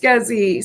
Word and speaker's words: SCSI: um um we talked about and it is pronounced scuzzy see i knew it i knew that it's had a cute little uh let's do this watch this scuzzy isn't that something yeah scsi now i know